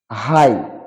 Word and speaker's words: high: তারপরে দো, জিস will be silent, দো মানে যদিও। থ্রো মানে মধ্য দিয়ে। হাই মানে উচ্চ, হাইট মানে উচ্চতা।